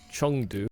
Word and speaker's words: Chengdu: It is Chengdu. You know, like kind of like it's spelled with an E, but it almost sounds like it's spelled with a U.